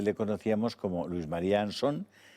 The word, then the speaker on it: Ansón: María anson no yo creo que el apellido está castellanizado y se dice ansón no es que mi apellido tiene un origen británico de un pirata británico que se llamó anson entonces allí se pronuncia así pero aquí en España siempre hemos dicho anson es como si dice